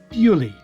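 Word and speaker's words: Beauly: scenery of the area she is said to have described it in french as bo lieu meaning beautiful place which has over the years come to be pronounced as purely well welcome back we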